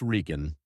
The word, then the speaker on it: Regan: His name is Chris Regan, pronounced R.R.E.